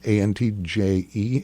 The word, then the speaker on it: Antje: And this week's winner is Antje, A-N-T-J-E. It's pronounced Antje, right?